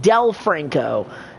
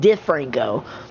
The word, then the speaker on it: DiFranco: And for a while, I was pronouncing David's name as David Del Franco instead of David DiFranco.